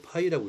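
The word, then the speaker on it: π: 여덟 팔자를 쓰면 되겠고요 그다음에 읽을 때는 초코파이 할 때 그 그대로 어 먹는 파이 있죠 그대로 읽으면 돼요 파이라고 읽으면 됩니다 3.141 원주율 값을 원주율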